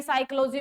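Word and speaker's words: psychology: इसकी sound create होगी जिस तरह हम कहे साइकोलॉजी में पी साइलेंट तो आपको बताया जाता है कि यहां पर जो है वो पी क्या रहेगा बेटा साइलेंट रहेगा ठीक है वो भी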